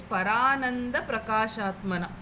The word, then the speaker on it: परानन्द प्रकाशात्मना: The word is parananda prakashatmana. Okay. So we should not say it like para and then ananda prakashatmana. No, it is not like that. Okay. So it will be parananda prakashatmana.